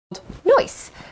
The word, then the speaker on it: Noice: Noice, spelled N-O-I-C-E, as we all know how to spell it. And yeah, Bruce, as opposed to noise, right?